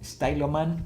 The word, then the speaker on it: Styloman: Styloman, así se pronuncia.